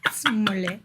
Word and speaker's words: Smollett: Smollett. You pronounce her name correctly, sir.